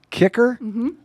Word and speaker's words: Kiecker: Again, our guest today on Toast and Jam, uh, assistant professor Lindsay Kicker. I pronounced it right.